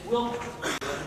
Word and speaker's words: Willmar: I've been mispronouncing your city's name. It's Willmar.